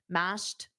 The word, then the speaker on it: mashed: Make sure you get that ED pronunciation as T. Mashed potatoes.